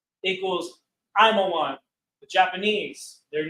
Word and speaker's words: Ammon: Moab equals Mawa'aba, means pronounced Mawa'aba, of his father, of his Abba, of his father. Ammon equals Imawan, equals Imawan.